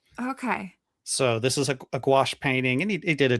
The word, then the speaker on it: gouache: It looks kind of like gouache or gouache.